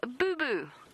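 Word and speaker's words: boubou: go perfect thank you a southern boo boo which sounds like something you get when you're a kid when you graze your knee or your elbow it is spelled b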